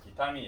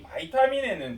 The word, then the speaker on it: 비타민: 비타민 옛날 말이다. 근데 우리 이거 많이 쓰죠. 그죠? 아직 이제 어른들이 다 돌아가시면 이렇게 쓸 거야. 이것도 이제 학파가 바뀌면서 교수님들이 젊어지면서 바이타민이라고 발음하기 시작했고, 이 바이타민에는 두 종류가 있어.